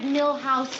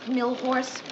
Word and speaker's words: Milhous: Grant asked me to remind you it's Richard Milhouse Nixon, not Millhorse.